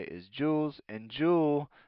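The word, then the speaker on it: joule: called Jews per GS time degrees Celsius so Jewels the J stands for jewels je so J we say is jewels and Jewel it's not JS it's j o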